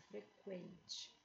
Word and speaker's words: frequente: falo adquirir adquirir e na palavra frequente é pronunciado frequente antigamente existia trema para dizer que pronuncia mas na nova ortografia